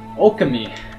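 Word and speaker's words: Ōkami: Okami is how you say it.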